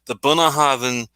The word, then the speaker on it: Bunnahabhain: And this one is the Bunnahabhain Stiuireadair.